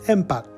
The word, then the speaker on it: empat: three is tiger tiger tiger four is empath empath empath the Indonesian word for five is